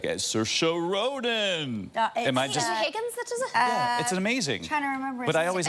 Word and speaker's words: Saoirse: But you know, the announcer, I don't know who the announcer is on SNL, but the guy's voice was like, Saoirse Ronan.